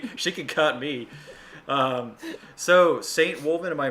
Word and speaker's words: Saintwolvinn: So, Saintwolvinn, am I pronouncing that right? Yeah, Saintwolvinn.